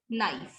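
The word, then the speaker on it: knife: K is silent in these words. ठीक है, ये तो हम बहुत कॉमन वर्ड्स हैं जिनमें K साइलेंट होता है. जैसे नी, knob, no, knock and नाइफ.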